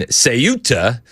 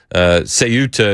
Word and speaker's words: Ceuta: CEUTA is the correct pronunciation, I've been told. I've been told wrong things before, so your guess is as good as mine.